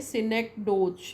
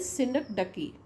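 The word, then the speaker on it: synecdoche: अब ये सिनक डोज ऐसा हम पढ़ेंगे तो ऐसा पढ़ेंगे सिनक डोज, है ना, लेकिन इसका साउंड मैंने प्रोनाउंसिएशन लिखा है यहाँ पर, दैट इज सिनक डकी, राइट। तो please take care when you pronounce it, सिनक डकी।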